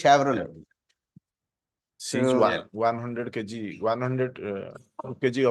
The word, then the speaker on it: Chevrolet: Chevrolet yes my lord not Chevrolet the pronunciation is Chevrolet She's 100 kg 100